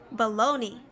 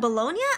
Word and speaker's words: bologna: that to your cat baloney baloney it's not bologna yeah I always call it bologna yeah baloney baloney top